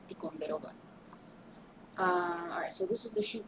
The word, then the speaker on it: Ticonderoga: I don't know, I like that name, but I don't know how to pronounce it in English. It's Ticonderoga.